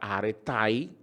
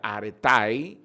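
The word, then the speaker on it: ἀρετή: que es la palabra aretai o areté se escribe areté se pronuncia aretai que quiere decir ah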